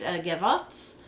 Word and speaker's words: Gavottes: I think that it is pronounced gavottes or Gavo, but I think it's Gavottes.